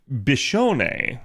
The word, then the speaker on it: Biscione: units on JP particularly bishon is how I believe you say her name um if I've butchered